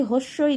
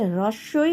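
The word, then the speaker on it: হ্রস্ব ই: হ্রস্বই, দীর্ঘই, আমরা বলি হস্যই, দীর্ঘই, আসলে এটা হচ্ছে হ্রস্বই, দীর্ঘই।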